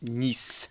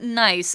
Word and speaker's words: Nice: So our journey finishes in Nice. Right. Yes. So it's not nice. I know the word is spelled the same as nice, but Yes. it is Nice. Because it is a French word.